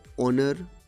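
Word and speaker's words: honour: একইভাবে অনার, আওয়ার এদের শুরুতে এইচ থাকলেও উচ্চারণ এইচের নয়, উচ্চারণ অ বা আ, তাই তাদের আগে অ্যান বসবে।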